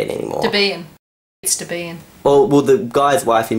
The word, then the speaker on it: Debian: Debian. Well, the guy's wife who made Debian was like... He was Debbie, and the system's name is based off Debbie, so Debian.